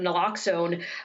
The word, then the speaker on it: naloxone: overdose prevention through the distribution of, I guess, naloxone, is that how it's pronounced?